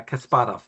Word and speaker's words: Kasparov: Deep Blue defeats Kasparov. I think that's how you pronounce it. I mean, my can maybe help me out with the pronunciation there. Uh, Kasparov. yeah, Kasparov.